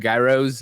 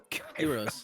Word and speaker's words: gyros: No, I had a lot of gyros and fries. Euros. They're called euros. Euros? Is that how you pronounce it? The East Coast they say gyros.